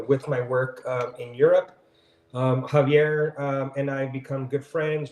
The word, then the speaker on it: Javier: I heard you say Javier, so I've been saying his name wrong the entire time. Javier, that's my bad.